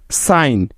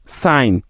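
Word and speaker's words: sign: বা উজ্জ্বল থাকার নিয়ম এন এর আগে জি থাকলে ওই জি টার উচ্চারণ হয় না অর্থাৎ সাইলেন্ট থাকে যেমন সাইন এস আই জি এন সাইন ডিজাইন ডি ই এস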